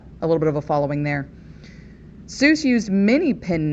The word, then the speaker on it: Seuss: supposed to be pronounced seuss that's how we pronounce it as readers that's how we've always pronounced it but it's actually pronounced more like zoice because soos rhymed with mother goose and he was doing